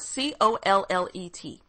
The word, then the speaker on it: Collet: And you spell it C-O-L-L-E-T. And I hope I'm saying it right. I'm sure I am, because in French, you don't pronounce the T. Collet.